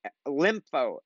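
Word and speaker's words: Lympo: sometimes I'm like that yeah it's lympho lym p o ly MP oh I will also be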